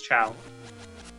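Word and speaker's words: Chao: is the correct one chiao or ch I think it's chow and uh I had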